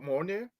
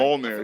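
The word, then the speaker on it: Mjölnir: Do you think you can lift up Monourire? Uh, Rich Kings, do you think you can do what is it Mon? Am I saying it right? Molair. Yeah. Can you lift Molir to be Thor?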